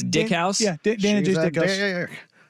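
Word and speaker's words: Dykhouse: Is it Dick House Stadium or Dyke House? No, Dick House to me. Yeah, that's It's Dick House?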